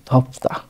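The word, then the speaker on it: 덥다: ধ এবং থর মাঝামাঝি উচ্চারণ ধপ্তা, ধপ্তা অর্থ গরম, ধপ্তা অর্থ গরম।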